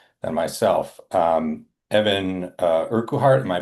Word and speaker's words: Urquhart: Um, Evan uh Urkuart. Am I pronouncing that correctly? It's just Urkheart. Urkart.